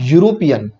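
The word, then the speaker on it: European: reason यह है कि इस वर्ड को प्रोनाउंस करते वक्त मैं बोलूंगा यूरोपियन और एलिफेंट ये दो प्रोनंसिएशन पूरी तरह से अलग है इसलिए मैंने यहां पे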